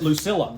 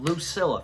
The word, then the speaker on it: Lucilla: Luc Lucilla. Lucilla.